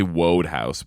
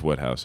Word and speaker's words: Wodehouse: You just say I would say Wodehouse, but I was like, it's Woodhouse, I think. It is Woodhouse, okay. Yeah. If you've been to a proper school, you'd know that.